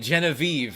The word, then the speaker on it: Genevieve: Wait, Genevieve already rhymes with believe.